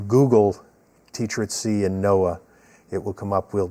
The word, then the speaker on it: NOAA: Teacher at Sea, again, if you Google Teacher at Sea and NOAA, it will come up. We'll provide the website also. All right, that's NOAA, not NOAA, spelled like Noah in the Ark.